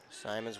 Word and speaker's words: Simons: Simons with it. I heard the PA announcer pronounce it as Simons, so he talks to the coaches, and that's the right way to pronounce that.